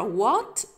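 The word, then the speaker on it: what: معناها ما او ماذا ولما نيجي نكتب او نقرا تات احنا بنكتب الاش بس مش بننطقها تمام لانها لانها صامته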